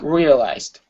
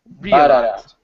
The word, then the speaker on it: realized: The stress put on the first, yeah? On the first so it's here. So it's treated like a three syllable word. Okay, whenever you have a three-syllable word, you have a strong stress and a weak stress. The strong stress is at the very beginning. The weak stress is at the end. So ba-da-da, realized. Realized.